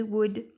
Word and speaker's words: would: Pareil pour would. I would like qu'on peut contracter par I'd like. Et on ne prononce pas le L de Wood.